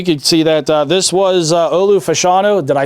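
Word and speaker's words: Fashanu: all right we could see that this was Olu Fano did I say it right that time yes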